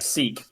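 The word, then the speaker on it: Sikh: ah yeah um uh Josh help me on pronunciation here the uh s i k Empire in in India seek the as in yes seek as in anom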